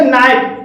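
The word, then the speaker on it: night: H silent है जैसे नाइट नाइट में आई के बाद जी एच है और यहां पर भी जी एच साइलेंट है टाइट टाइट में आई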